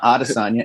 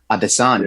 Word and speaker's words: Adesanya: It's not Adesanya, it's Adesanya. Yeah. That's how you say it.